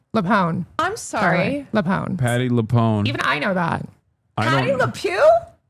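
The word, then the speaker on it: Patti LuPone: Why are people mad at Patty Lew? Leone. I'm sorry. Leone. Patty Leone.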